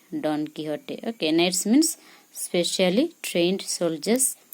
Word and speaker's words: Don Quixote: meanings this also please study Don Quixote say Don Quixote or tenesmus specially trained soldiers or high rank